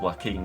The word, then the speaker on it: Joaquin: Well, that doesn't, I mean, it's pronounced Joaquin, isn't it?